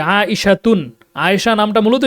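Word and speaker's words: عائشة: কারণ লাস্টে যে গোলতাটা থাকে এটা আমরা এমনিতে উচ্চারণ করার সময়, মুখস্থ করার সময় অবশ্যই মুখস্থ করব, কিন্তু দেখা গেছে যে সংক্ষিপ্ততার জন্য বলতে গেলে লাস্টের এই গোলতাটাকে হা হিসাবে উচ্চারণ করে এভাবে পড়া হয় যে আয়েশাতুন, আয়েশা।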